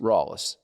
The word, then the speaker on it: Rallis: different ways up here what's the proper greenville pronunciation rallies rawliss okay ron wallace is